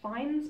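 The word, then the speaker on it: Fiennes: I'm reliably informed that his name is pronounced finds Peter finds which I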